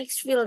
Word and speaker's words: Exfil: Format ini digunakan untuk memastikan peserta memberikan jawaban yang benar sesuai tangan DNS Exfil 3 Exfil. Bacanya Exfil ternyata.